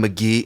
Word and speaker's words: Mk.gee: Pronounced McGee.